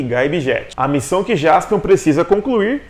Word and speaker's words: Jaspion: Jaspion seria a combinação das palavras em inglês, Justice e Champion. O que faria com seu nome nesse caso fosse Juspion. Engraçado, né? Porém, a pronúncia da palavra Justice em japonês é muito diferente. Seria mais ou menos Justice. E por isso, quando feita a junção das palavras, o nome do herói fica Jaspion.